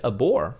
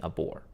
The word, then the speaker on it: abhor: bore the violence but notice that she says abort which is interesting i never i've never heard people saying a boar so she is not pronouncing the h she's simply saying abhor i abort the violence